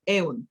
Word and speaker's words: Eun: Por eso aquí me cambié un poquito, todo me llaman Eun, como se escribe, E-U-N, Eun.